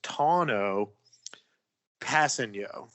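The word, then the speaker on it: Tanoh Kpassagnon: name i googled it it appears that the pronunciation is tono passing yo so we'll work on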